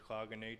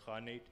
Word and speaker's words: khanate: uh uyghur khanate right it says cognate but it's it's really pronounced honey so the uyghurs are